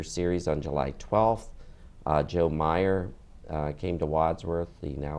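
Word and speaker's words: Mayer: Wadsworth school and it's spelled m-a-y-e-r m-a-y-e-r and pronounce Meyer Meyer and then we had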